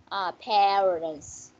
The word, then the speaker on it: parents: D mới đúng ha, tại nó phát âm là chữ này chữ E ha, parents, những từ còn lại phát âm là chữ A, back.